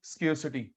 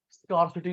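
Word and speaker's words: scarcity: है, उसे बोलते हैं स्केर्सिटी। क्योंकि चीजें मैंने कल बताया था, स्केर्सिटी बोलना है, स्कार्सिटी नहीं बोलना। प्लीज बेटा, इसका सही प्रोनाउंसिएशन है स्केर्सिटी, स्कार्सिटी नहीं बोलते, शॉर्टेज, शॉर्टेज, शॉर्टेज है तभी हम लोग चॉइस करते हैं।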